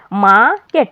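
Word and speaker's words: market: যত মনে রাখবে যে কনসোনন্টের আগে আর থাকলে সেটা উচ্চারিত হবে না সেটা বাদ দিয়ে আমাকে উচ্চারণ করতে হবে যেমন মাকেট মাকেট আরটা বাদ যাচ্ছে মাকেট ঠিক আছে গার্ডেন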